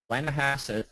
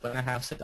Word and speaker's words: Blennerhassett: And then if you're going east, there is the Blennerhassett, that's how it's pronounced, Blennerhassett Island Bridge that was opened in June of 2008.